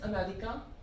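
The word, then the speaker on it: Américain: So in masculine, in French, it is Americain.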